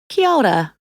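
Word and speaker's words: kia ora: most common would be Chiara if you find it difficult to pronounce break down the syllables say them slowly and gradually faster and faster key-keeper Okla Chiara kyouda means hello and also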